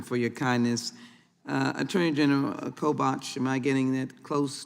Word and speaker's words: Kobach: Attorney General Kobach, am I getting that close to pronunciation, sir? Kobach, yeah.